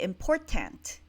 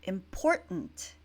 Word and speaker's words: important: would pronounce it important you can see that the ta NT was not very clear I don't say important right it sounds more like important it's a little bit